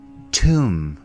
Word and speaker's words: tomb: our fourth word tomb repeat after me tomb the bee here is silent let's take a look